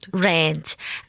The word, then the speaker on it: rand: Rand.